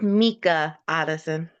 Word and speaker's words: Micah Otteson: It's pronounced Mika Otteson.